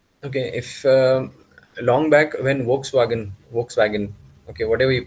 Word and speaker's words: Volkswagen: Volkswagen बोलना है नहीं, वो लोग Volkswagen बोलते हैं. V बोलना है, उसका F बोलना है.